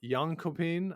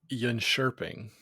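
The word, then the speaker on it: Jönköping: world junior curling championships took place over in yopin I believe back in Sweden is that right Scott it's uh it's pronounced Yan shering oh excuse me and uh I think that's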